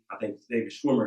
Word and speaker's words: Schwimmer: I seen online that for those who watch the TV show Friends, David Schwimmer is how you pronounce his name, had posted that there should be a black version of Friends.